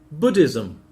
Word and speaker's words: Buddhism: Buddhism. Edward, how do you pronounce Buddhism. Buddhism? Where's the stress? Bu. Why? Because it's a noun.